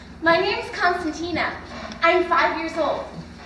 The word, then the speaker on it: Constantina: my name's constantina i'm five years old in greek you pronounce my name as cospanina that's how everybody says it because everybody's free and